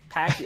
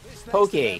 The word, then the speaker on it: poke: Or Pocky, what is it pronounced as? The Pocky stuff? Poke? Poke. Poke, that stuff I feel like is going to get you eventually.